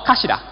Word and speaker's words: Kashira: So this is our brand, Kashira. It might be hard for the non-Japanese to pronounce this name, but number 4 in Japanese is pronounced as shi.